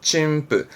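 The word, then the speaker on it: 陳腐: 침부 아시죠? 응 때문에 발음이 부. 침부.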